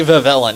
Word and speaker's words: Vivillon: I heard somebody else call it Vivillon and that's just lived rent-free in my head ever since and I just cannot go back to the other way of pronouncing it anymore. It is always going to be Vivillon. It's the 666 Pokémon. It has to be the Vivillon.